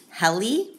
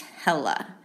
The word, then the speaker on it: Helle: people pronounce her name heli because it's spelled h-e-l-l-e but i did some digging and some research and according to the internet um it says that her name is pronounced hella hella crafts she was actually